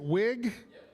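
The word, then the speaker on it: Wiig: Kristen, is it Wig? That's what I thought.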